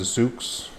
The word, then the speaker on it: Zoox: You've got Amazon with their project, I think it's pronounced Zoox.